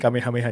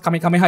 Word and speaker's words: Kamehameha: yang enggak tahu came mungkin ada yang mispronounce kamiha ya cuman ya itu mungkin itu masalah yang cukup umum sih Kame Kameha gitu kan kame hameha kan.